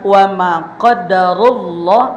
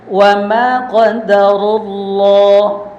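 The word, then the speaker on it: وما قدر الله: Nah, di kalimat wama qadarullah, maka rnya itu harus dibaca tebal karena hukumnya ro tafhim. Lanjutkan. Wama qadarullah.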